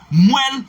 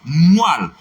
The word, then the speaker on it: moelle: Si vous dites moelle, vous passez à côté. La bonne prononciation c'est moelle, M-O-E tréma, double-L-E, c'est moelle.